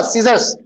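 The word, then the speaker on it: scissors: यहाँ पे सी साइलेंट है, जरूरत ही थी यहाँ पे. एस का साउंड आ रहा. सीजर्स. दूसरी बात क्या है कि सीजर्स हमेशा आप सीजर्स बोलना, सीजर नहीं बोलना.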